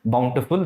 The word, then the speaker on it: bountiful: plenty plenty also gives you the same meaning Bountiful okay lot of people mispronounce but the right pronunciation is Bountiful the meaning of Bountiful is also what abundant